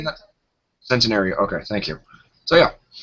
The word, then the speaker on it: Centenario: on the engine yeah he is a Lamborghini Santio is that how you say it sario you say that centenario okay thank you so yeah and uh someone